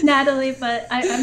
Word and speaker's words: Nathalie: always get confused like i saw the th in there and i was like is it natalie or nathalie i hope i'm not pronouncing your name incorrectly it's natalie but i i'm not